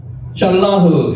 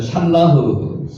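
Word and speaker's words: שלח: 샬라흐, 요거 한번 따라해 보세요. 샬라흐, 보내다는 뜻입니다.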